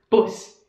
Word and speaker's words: Bus: The next one is like in English, but the pronunciation is different. Der Bus. Der Bus.